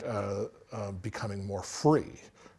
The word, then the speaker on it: fri: love right right so in Danish the word free f r i pronounced free means um a proposal